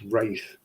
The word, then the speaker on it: wrath: When he keeps repeating wrath, pronounced wraith, after he starts babbling incoherently again, Dr.